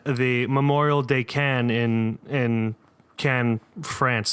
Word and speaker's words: Caen: Memorial de Caen in Caen, France. That's C-A-E-N, not C-A-N-N-E-S. It's pronounced the same for some reason.